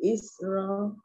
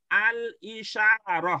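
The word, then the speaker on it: الإشارة: Zalikal kitab li isra, kata tunjuk. Bukan Isra, itu bacanya al-isyarah, Bu.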